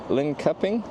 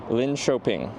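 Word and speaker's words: Linköping: No, you don't. You don't say it like Lin Couping. Someone spell it properly phonetically. How do I spell this town name? Soft K. L shopping. Lyn Lynn shopping. Lyn Choping. Lyn Choping.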